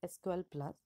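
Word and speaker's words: SQL*Plus: is sql plus so it is written as sql star plus and pronounced as sql plus it is an oracle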